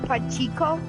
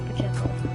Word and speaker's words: Pacheco: You did not get the name right at all. How do you say the name? Because he's watching my video. Chris Pacheco.